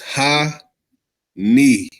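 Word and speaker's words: hanih: Father is Ha-Ni. I even spell it out for you. H-A-N-I-H. Ha-Ni.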